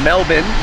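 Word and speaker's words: Melbourne: time in Australia uh we're in melbin which is how the Australian pronounce it so far it's beautiful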